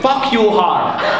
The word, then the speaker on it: Farquhar: And she told me, we pronounce it, fuck you hard.